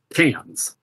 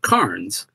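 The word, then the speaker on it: Cairns: at the end in what I was always told to pronounce as cans not KS but cans I was very explicitly told that's cans uh and I remember when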